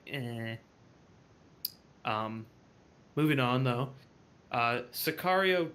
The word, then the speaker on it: Sicario: It's Cesario, Is I it believe. Cesario? I believe. I'm pretty sure it's Sicario.